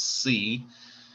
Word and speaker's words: Siau: The victim's name is Michael Siau, spelled S-I-U, and I think the French pronunciation is C.